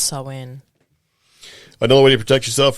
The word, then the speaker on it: Samhain: I believe it's Samhain. I'm not a good pronunciator. And during the 12 days of Yule. Yeah, it's Samhain.